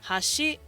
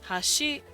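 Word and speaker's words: 箸: it means bridge and if they go Hashi Hashi and they go down Hashi it's kind of like uh those are chopsticks so they they up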